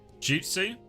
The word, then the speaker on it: jutsu: Jutsu. Okay. All right. Jutsu. He should have written the ute then like jujitsu but not. I think that's not helped at all. Quark. It's from the Japanese pronounced jutsu.